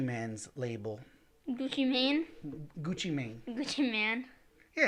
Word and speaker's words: Gucci Mane: label do you mean gucci mane man yeah it's gucci mane which means i mean yeah like maine just like man but like man you